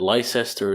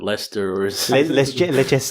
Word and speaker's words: Leicester: Square Leicester Square yeah is it lie sister is it Lester's make instead just don't